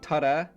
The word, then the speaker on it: Turriff: around my hometown called TF or to us locals we call it Tara which is the Scots name which is derived from the Scottish gelic pronunciation the population of TF is